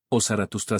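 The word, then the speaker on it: Zarathustra: Soroastro, Osarathustra, según la pronunciación más cercana al antiguo persa, fue un profeta y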